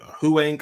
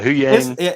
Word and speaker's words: Huyang: Yeah, and so I think the big thing is Huang. Oh God, it's never gonna get. Yeah, Huyang.